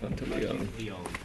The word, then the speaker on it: Monteleone: pronunciation one more time, just for fun. Monteleone. Monte Leon? Yes.